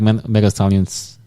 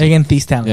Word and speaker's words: Megan Thee Stallion: But I still don't like Mega Stallion's music. Megan Thee Stallion.